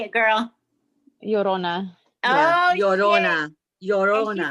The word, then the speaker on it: Llorona: Llorona.